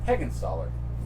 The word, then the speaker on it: Heggenstaller: even remember you don't even know how to pronounce my last name higginsollard good job man good job I've known you